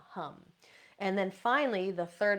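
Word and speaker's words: ham: And then for the throat is hum, H-A-M, pronounced hum, hum.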